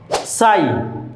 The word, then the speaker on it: sigh: সাই, SIGH, সাই দীর্ঘশ্বাস, এখানে জি এইচ একসাথে আছে, উচ্চারণ হয়নি।